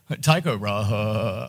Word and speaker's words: Tycho Brahe: However you like to pronounce his name, you guys gave a brief shout out to, I like to think of it like Tycho Brahe. Tycho Brahe. Oh, yeah, that's one way of doing it.